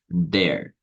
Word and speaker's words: they're: Então, para pronunciar isso aqui, ó, essa contração aqui toda junta, né? Você vai falar there.